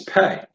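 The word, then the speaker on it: פה: So in Hebrew, the word for mouth is pay.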